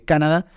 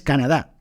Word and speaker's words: Canadá: que en inglés dice canada eh en español es Canadá la la la palabra eh termina con una sílaba fuerte Canadá bien bueno venga vamos